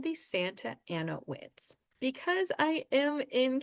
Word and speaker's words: Santa Ana: come from Spanish if if you are a Spanish speaker you are going to want to say Santa an reminder we're trying to speak with an American accent so we're going to pronounce it like an American would even though I know it's not correct but we are going to say Santa Ana so these are called